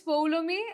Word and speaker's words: Poulomi: It's Poulomi. It's not Poulomi. It is Poulomi.